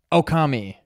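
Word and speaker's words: Ōkami: It's Oki. 3 syllables. Okami.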